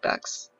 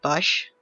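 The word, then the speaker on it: Bach: and I was right he was German but it wasn't pronounced bash but B Johan Sebastian B but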